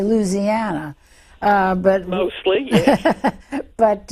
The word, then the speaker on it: Louisiana: Uh, because people in North Louisiana are might be inclined to say Louisiana as well, but it is Louisiana. And you've been saying New Orleans, right? So, New Orleans is pronounced differently by everybody and you can almost